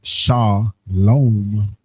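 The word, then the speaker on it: שלום: The transliteration is that salom salom which is pronounced sha lom which you see was kind of like that second one they added the vow you go down.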